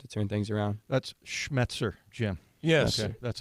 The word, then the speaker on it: Schmetzer: kind of helped to turn things around that's schmetzer Jim yes that's how you pronounce that I notic we got it one